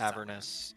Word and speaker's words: Avernus: Isn't it pronounced Avernus? Yes, it's Avernus.